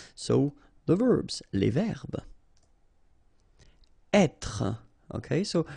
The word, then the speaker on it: être: Être. Okay, so remember that when you get this accent circumflexe here, you should really pronounce it openly. So, être. Okay, don't insist on the final e.